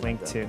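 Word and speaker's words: Linqto: can do that with quintu is that is that how you say is that what it's called yeah i'll spell it out t l-i-n-q-t-o that's like two win yeah sure something linked to yeah so that is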